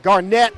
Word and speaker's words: Garnett: Garnett is how it's pronounced. Okay, I'll give him that. Like Kevin Garnett.